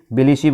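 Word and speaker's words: Tbilisi: Important इसलिए है कि जॉर्जिया की जो कैपिटल है बिलिसी बोलते हैं, टी साइलेंट है।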